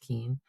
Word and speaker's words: Keen: Uh, despite the spelling of my last name, it's pronounced Keen.